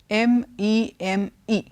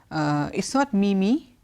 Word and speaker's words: meme: familiar with that word, M-E-M-E. You see it written down, but how do you pronounce it? Is it, it's not mimi, it's meme. Okay, it's called a meme.